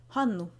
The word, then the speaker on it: Hannu: Hanu has a long n sound in the middle, so it might help you to picture it as two separate words.